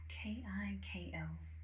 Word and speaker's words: Kiko Milano: K I K O Kiko. And then Milano like those delicious cookies.